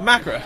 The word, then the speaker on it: Macra: Oh, the Macra. Macra? I've been pronouncing Macra wrong in the office for the last how many months?